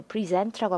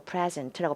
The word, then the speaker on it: present: 그 present라고 하면 동사고 present라고 발음하면 형용사인데요.